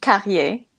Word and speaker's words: Carrié: And Carrié, I'm hoping that I'm pronouncing your name right, and if not, please correct me. Um, It's Carrié, Carrié. Carrié. You see, Yes. Carrié.